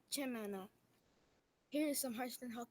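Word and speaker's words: chimenea: To pronounce the word in Spanish is chimena.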